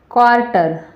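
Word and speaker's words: quarter: तो इनमें आपको आपको देखा होगा कि यहाँ जो यू है उसकी वो जो साइलेंट है, यानी कि उसका जो उच्चारण है वो यहाँ नहीं हो रहा है।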